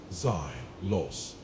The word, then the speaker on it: XOS: My home world is XOS, pronounced Zos.